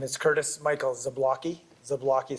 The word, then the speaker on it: Zablocki: the record please State your full name and spell it out my name is Curtis Michael zablocki zablocki spelled z-a-b-l-o-c-k-i do you swear that the